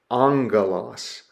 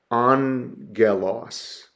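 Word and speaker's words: ἄγγελος: we would pronounce that Angelos Angelos okay you see how I've broken down the syllables and transliterated the sound there on Galos that first gamma is pronounced with an N angalo okay regular gamma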